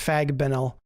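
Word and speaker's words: Fagbenle: Fabinel, I can't believe it's pronounced Fagbenel.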